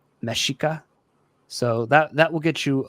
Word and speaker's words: Mexica: So, one thing you just got to know is the X in the language makes the she sound. So it's not like for here, it's not Mexica, it's Mexica.